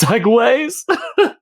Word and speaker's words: segues: I said he's like as if like how it's spelled but like it's Segways oh my brain geez